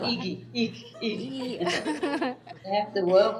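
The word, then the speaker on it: Igy: Iggy. Yeah, it sounds like Iki, yeah. It's I-G-Y. Pronounced Iki.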